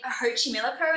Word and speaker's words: Xochimilco: I'm going to butcher this, but anyway, Lake Xochimilco in Mexican in Mexico City. Okay. that's how we pronounce it.